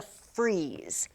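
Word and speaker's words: frieze: several copies of this it's called a freeze it's not spelled like you freeze the ice cream it's spelled like this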